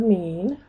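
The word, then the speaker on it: μ: highest point is the mean we're going to use a lowercase Greek letter mu for the mean me that's how you say it and we're going to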